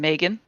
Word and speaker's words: Megan: is i pronounce it my family pronounce it with a slight a as in megan megan okay awesome so